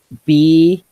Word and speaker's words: Bjelica: Bielica. Can't do it. Tyler, I can't do it. I'm too Midwestern. I just can't do it. Okay. Bielica. That rhymes with pizza.